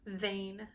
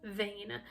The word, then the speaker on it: Vane: taken in two ways it's spelled v n e like a Weather Vein but of course it sounds like vein as in vanity as well I think we're meant